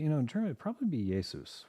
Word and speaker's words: Jesu: So this is the famous, actually, in German, it'd probably be Jesus, right? In German, a J is pronounced like a Y.